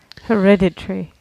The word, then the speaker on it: hereditary: place my did I did I place my stress in the wrong place yes sir stress is wrong yes hereditary okay I always find it